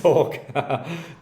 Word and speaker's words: Torquay: That was Torquay Golf Club. Yeah, so that was good too. Yeah, forgot about that. That little 9 holes like, after the rain. Like the live team? TORQU? Torquay.